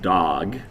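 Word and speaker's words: דג: and this creature uh it's the word it's pronounced dog but it means any large anything that swims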